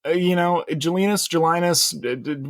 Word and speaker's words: Gelinas: Is that how you say it, Alex? Gelinas? Gelinas, we call him Joe Jelly.